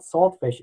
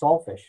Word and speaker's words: saltfish: He said, it's not saltfish, it's saltfish. And I said, well, it's salted fish, and yeah, they say saltfish, but... Okay. T is silent in the Caribbean.